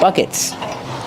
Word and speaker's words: bucket: And these are called buckets. They have a lot of buckets. This is one bucket. This is a bucket. And this bucket is empty. Bucket. Use a short sound uh like cup and up.